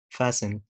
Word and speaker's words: fasten: طيب حرف T لو جه في المقطع S-T-E-N في نهاية الكلمة لقيت المقطع ده S-T-E-N نفس الكلام silent letter like listen fasten christen glisten okay.